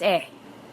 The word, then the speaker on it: へ: Now take note that even though in a hiragana, the letter he is pronounced as he, but whenever it is used as a particle in a sentence to denote a location or a movement, it is pronounced as e.